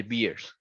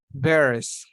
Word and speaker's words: bears: grades you must not feed the beers bears excuse me you must not feed the bears bears yeah because if you say beers it's like um it is like